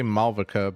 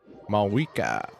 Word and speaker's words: Mavuika: I want to say MAVUIKA, but apparently that's wrong. MAVUIKA.